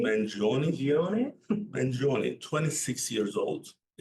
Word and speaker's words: Mangione: Luigi Mangino or Mangino, like how do you say that, Ethan? Mangione? Mangione? Mangione? Mangione, 26 years old.